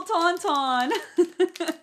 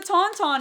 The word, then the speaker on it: tauntaun: got this weird-looking thing the little taunton what's his name it's a tauntaun it's what like luke